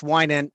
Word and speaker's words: Winant: And the last name is pronounced Winant, but you were really, really close.